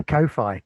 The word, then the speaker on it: Ko-fi: Put my Ko-Fi coffee. I don't know how to pronounce it. Kofi. Yes, I started up a Ko-Fi, which seems silly because it's supposed to be like coffee, isn't it?